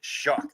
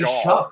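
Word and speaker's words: Shough: I don't know how you get shock out of Some people have been saying Shuck, right? Yeah, it is. Shock. That's what That's what it is.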